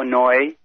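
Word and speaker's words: Neu: Those 2 scrap metal yards were Hugo Noy, Noy is spelled N-E-U, and the other one was Metal Management.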